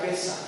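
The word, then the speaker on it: פסח: en hebreo pesa sí Pascua se pronuncia en griego sí y en hebreo se pronuncia pesa es lo mismo es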